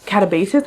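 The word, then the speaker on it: Katabasis: Like Catabasis, I think is how she pronounces it, but hey, we're back.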